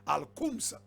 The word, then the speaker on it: Al-Khums: Al-Khums is spelled K-H-U-M-S. Al-Khums.